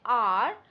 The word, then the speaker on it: hour: Now, if you take R, the spelling is H-O-U-R, but we will not say hour, we will say R, and we are going to only take O-U-R in consideration, and H is a silent letter.